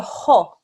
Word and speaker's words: خ: This letter here is a ho. When you read it translated into English and it's written out, it's spelled as a K-H-A-A, okay? But you make the ho sound by closing the very back of your mouth at the top of your throat, okay?